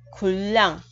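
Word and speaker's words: 군량: thành chữ r, và hai r gặp nhau thì r thứ hai đọc là l. Khuỳ lần là quân lương, khuân là quân, đang là lương, khuỳ lần quân lương.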